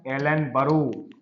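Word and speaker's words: Ellenborough: ओ यू जी H Hindi वालों के लिए ये लिखा है लॉर्ड एलन बरो एलन बरो टाइम पीरियड लिखेंगे उसमें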